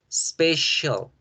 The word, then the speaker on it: special: La palabra especial tiene la sílaba si. Special, special, special.